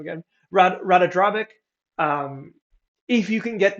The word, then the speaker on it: Ratadrabik: How do I pronounce this guy's name again? Ratadrabik.